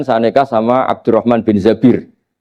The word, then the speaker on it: Zabir: Kemudian saya nikah sama Abdurrahman bin Zabir. Di hadis ini bukan bacanya bukan Zubair, tapi Zabir. Abdurrahman bin Zabir. Tapi orang Arab itu ya agak-agak vulgar.